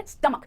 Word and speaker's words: stomach: आप इंग्लिश में कहेंगे stomach, ना कि stomach या stomach, stomach, 2 syllables है, पहले syllable पर स्ट्रेस आएगा, stomach, पहले syllable को थोड़ा स्ट्रेस के साथ बोलना है, stomach, perfect.